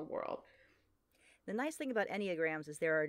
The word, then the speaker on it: Enneagram: But what we're talking about is a thing called Enneagrams. Is that how you pronounce it? Yeah, the Enneagram.